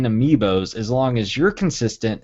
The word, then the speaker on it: amiibo: We were talking about how you pronounce and talk about amiibo, the plural being amiibo. We've said amiibos here sometimes on the show.